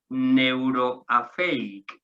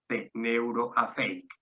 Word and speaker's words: Neuroafeic: En Granada tenemos a Neuroafeic, ¿vale? Neuro, como se escribe, y luego Afeic son siglas, A-F-E-I-C, A-F-E-I-C, Neuroafeic.